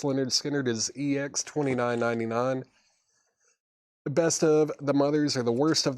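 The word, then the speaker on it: Lynyrd Skynyrd: Leonard Skard pronounced Leonard Skard is EX29.99.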